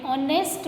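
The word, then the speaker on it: honest: Now Manish is एन ऑनेस्ट बॉय। क्योंकि यहां पर एच साइलेंट है। देन वोवेल साउंड से स्टार्ट होता है।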